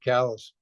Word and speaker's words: Calais: Here I live in one of the most beautiful sounding French words in general in the world, and they have to pronounce it callous.